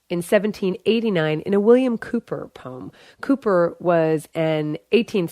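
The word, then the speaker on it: Cowper: who first mentioned the term cucko clock and Cooper by the way is spelled c WP R but pronounced Cooper but back to cuckoo they are really beautiful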